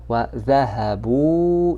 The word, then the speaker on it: ذهبوا: And you see this alif. Know that there is an alif at the end of the word which is not pronounced. It's not pronounced.